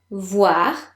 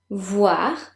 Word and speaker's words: voir: Voir. Repeat. Voir. Remember, the letters O and I, when they occur together in French, are pronounced like WA in English. Voir.